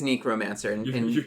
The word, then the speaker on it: necromancer: you can be a necromancer is that NE apparently I pronounce it wrong is that Necromancer okay I was going to ask neckromancer okay it is neckromancer you raised Nicks from